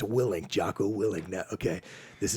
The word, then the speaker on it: Willink: I I hear this guy Jack it's actually pronounced willink jao willink now okay this is that same